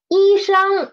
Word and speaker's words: 医生: 医生 is the kind of people who works in the hospital. Doctor, 医生, read up to me, please. 医生. Two first tone syllables.